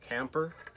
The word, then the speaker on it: Kemper: I didn't know why his nickname was Motorhome, but apparently in Dutch, Kemper is pronounced more like Camper.